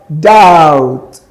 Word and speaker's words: doubt: We have doubt. Doubt. Doubt. The letter B there is silent. It's not articulated. It is not pronounced.